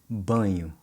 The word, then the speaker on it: banho: Baño in Spanish Baño. versus banho in Portuguese. Banho.